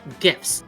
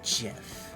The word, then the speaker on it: GIF: it's pronounced memes and gifts with a hard G love Robi I'm with the mayor I say JF shut up he hex